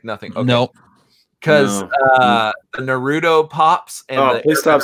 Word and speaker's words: Naruto: Put the emphasis on the na rather than the ru.